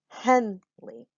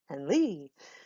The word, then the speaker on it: Henley: I either say Henley or Henley. One is my name and the other is not. I say my name Henley, not Henley. So that's my name.